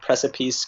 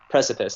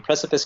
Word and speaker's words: precipice: press it how do you say this word press apiece carolers profit and then precipice thank you precipice carolers and then you have king dark death